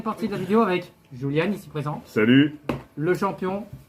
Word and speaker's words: Julian: Donc voilà, et puis on est avec Roulian, ici présent. Non, Julian Void. Hoche. Voilà, Julian. Je sais pas pourquoi je prononce Roulian.